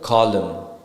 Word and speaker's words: column: with the letter N the letter N is not pronounced when it comes after M at the end of a word for example column Dam solum right so